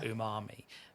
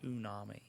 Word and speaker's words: umami: Umami. I always say it wrong. I always say unami.